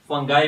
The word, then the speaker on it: fungi: तो आज का हमारा टॉपिक है किंगडम फंजाई, या बाज लोग इसको फंगाई भी प्रोनाउंस करते हैं।